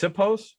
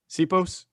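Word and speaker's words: Siposs: It's pronounced Sipos. Sipos.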